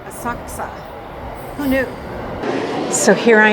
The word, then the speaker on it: Asakusa: we get there okay it's actually called aaka who knew so here